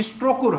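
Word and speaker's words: Strokkur: जाता है वो खूब पूछा जाता है एक स्पेलिंग है ध्यान रखिएगा स्ट्रो कुकुर स्टो स्कर स्ट्रोकर है हां ठीक स्ट्रो कुर है स्ट्रोकर गीजर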